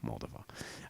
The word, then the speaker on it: Moldova: Moldova.